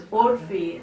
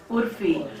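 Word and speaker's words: عرفی: Urfi, but of course we don't pronounce it as Urfi as you would, we pronounce it as Urfi, the 16th century poet who came from Shiraz and made Lahore his home.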